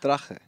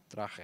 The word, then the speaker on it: Drache: Drache. Drache, yeah. Okay. It's not Drach. I say Drach. That's... It's not right.